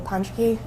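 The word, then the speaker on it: Ponschke: Please uh state your name and spell it for the record. My name is Panchki.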